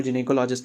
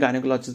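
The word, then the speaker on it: gynecology: देखोगे तो मतलब बेसिकली इसको जिने कोलॉजी बोलते हैं इसका जो करेक्ट प्रोनाउंस है वो जिने कोलॉजी है वैसे हम हम अपनी आम भाषा में गायनेकोलॉजिस्ट भी बोल लेते हैं ठीक है तो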